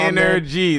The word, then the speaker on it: NRG: We got my Energy. That's spelled NRG.